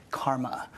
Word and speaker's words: CCRMA: By the way, that shortens to CCRMA and is pronounced Karma.